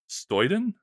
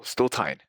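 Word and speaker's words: Stotyn: and black holes with Sean Stoyton? I'm sorry, is that how you pronounce it? Oh, Stotine. Stotine, okay, Sean Stotine.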